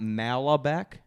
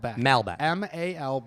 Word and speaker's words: Malbec: all by the way it's not malabek it's a Malbec oh this is [